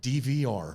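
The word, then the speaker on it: Devwear: D V R. D V R. D V R. It's spelled strange.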